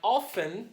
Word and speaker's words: often: aí ó fem i i often ST ele não se pronuncia tá alfani al Fragoso